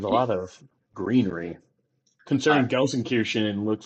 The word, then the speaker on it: Gelsenkirchen: There's a difference between Dortmund and, I'm going to butcher the pronunciation, so I'm just going to ask you to say it, Jake. Gelsenkirchen.